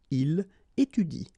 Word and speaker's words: il étudie: So in that case, if you want to pronounce it correctly, you should pronounce it like il étudie. Okay, so the last thing that you will pronounce will be the vowel I here.